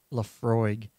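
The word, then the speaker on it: Laphroaig: Lafroig, aged 10 years, and it's going down smooth, Jonathan.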